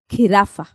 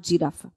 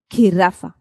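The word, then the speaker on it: jirafa: Giraffa. It's not giraffe. Okay? There's no pronunciation of J whatsoever. You're going to say, you're going to associate it with the k sound when you put K and H together. Giraffa.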